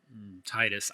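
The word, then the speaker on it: Tidus: It's a love story between Titus.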